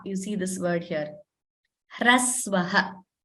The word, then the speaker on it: hrasva: So here, hrasva, you see this word here, hrasvaha, that is how it is pronounced.